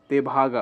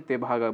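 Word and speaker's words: Tebhaga: revolution बोला जाता है देखभागा ओके तेभागा बार बार ये गलत प्रोनाउंस हो रहा है तेभागा मूवमेंट को यहां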